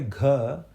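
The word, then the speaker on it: घ: So when you say gha, the easiest way to make sure you're saying it correctly is keep your forefinger near your mouth, just near your lips, and you should see gha. The air should hit your forefinger.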